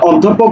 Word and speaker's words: অধ্যাপক: অধ্যাপক দেখো আচ্ছা শোনো অধ্যাপক শব্দের উচ্চারণ পোক হবে না আমি আবার বলছি